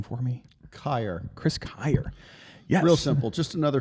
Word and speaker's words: Kyer: Um, pronounce your last name for me. Ky. Chris Kyer.